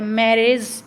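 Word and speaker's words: marriage: मैरिज, मैरिज, मैरिज में भी क्या हो रहा है, ए जो पहले वाला सिलेबल है उस पर ज़्यादा स्ट्रेस आ रहा है।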